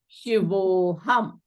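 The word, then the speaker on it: शिवोऽहम्: This a will become elided and not pronounced. So this a becomes the avgraha, right? This becomes an avgraha. So, and it is not pronounced, so it becomes shivoham, right?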